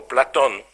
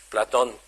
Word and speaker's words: Platon: So it's Plato or Platon, as should be pronounced. Platon.